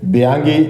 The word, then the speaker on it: Bianchi: ഇറ്റലിയിലെ ബിയാങ്കി സൈക്കിൾസ്, സ്പെല്ലിങ്ങിൻ്റെ അവസാനം CHI എന്നാണെങ്കിലും അതിൻ്റെ ശരിയായിട്ടുള്ള ഉച്ചാരണം കി എന്നാണ്, ബിയാങ്കി.